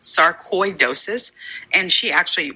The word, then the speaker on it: sarcoidosis: listening who don't know Tisha had what's called sarad dois and actually I looked this up and it's actually pronounced sarcoidosis and she actually pronounced